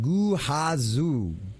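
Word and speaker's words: Gehazi: For what it's worth, Ghazi is pronounced Guhazu. Guhazu.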